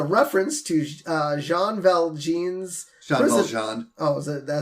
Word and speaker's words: Valjean: Valjean. Oh, that's how you pronounce it?